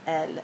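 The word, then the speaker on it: elle: and that would be L. And notice you don't pronounce the last letter.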